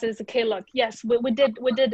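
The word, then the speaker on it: Klook: one did i say correctly sometimes i say k look or claw how do you say it yeah yeah i i i pronounce it as a k look yes we did we did invest in in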